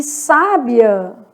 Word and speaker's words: sábia: E sábia, se tem acento no vizinho, o final fica juntinho. Então, sábia, eu tenho o I, que é 2, e o A, que é 5. Então, 2 e 5 sobe, né?